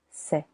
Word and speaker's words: sait: silent t il elle il on sait il elle on sait silent t nous savons.